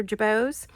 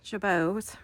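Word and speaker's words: jabot: So, I made these wonderful jabits or jabos. J A B O T is how it's spelled.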